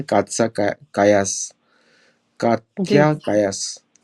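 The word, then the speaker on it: Kallas: क्या नाम है कातसा कायास कात्या कायास शी इस पाकिस्तान पाकिस्तान काया कायास इज a Dutch sir name उनसे कालास नहीं बोल रहा हूं। कायास बोल रहा हूं।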